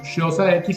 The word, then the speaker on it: Xhosa: un pueblo de Sudáfrica que se pronuncia como choza xhosa y él pertenecía a